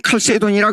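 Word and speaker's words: Chalcedon: 높을 신조 그 다음에 칼케돈 신조 어떤 분은 영어로 발음하면 칼새 돈이라 그러죠 그렇게 돈 신조 카케돈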